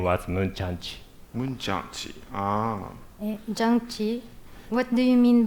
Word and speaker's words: Jang-Chi: J-A-N-G-C-H-I? My name is written with the Chinese characters. Pronounced "" in Japanese, "Jang-Chi" in Korean.